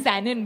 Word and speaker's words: Sanon: It's Sanon, by the way. Sanon. How'd you pronounce it?